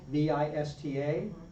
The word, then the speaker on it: vista: in an American movie v i s t a how am I going to say it in Spanish thoughista vista. So it's a very soft b sound for both the b and the or the one